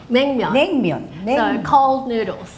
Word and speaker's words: Naengmyeon: Naengmyeon. Naengmyeon.